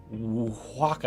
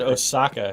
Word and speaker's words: Oaxaca: Apparently, that cheese, you that don't- Mexican cheese that I fucked up the pronunciation of, is Oaxaca. Oaxaca? Oaxaca. Oaxaca? Yeah. It didn't sound right when you said it. I said Osaka.